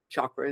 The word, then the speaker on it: chakra: you ask does this chakra chakra is the correct way to pronounce it uh need to be